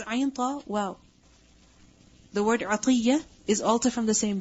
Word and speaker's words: عطية: By the way, the name is also عطية, not أتية. Okay? Because some people, their name is عطية, and people call them أتية. It's not أتية, it's عطية.